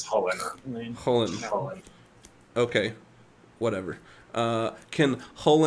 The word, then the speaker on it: Chulane: three can can Chulainn how what's the correct pronunciation for that it's it's Holi Holi okay whatever can hole in target himself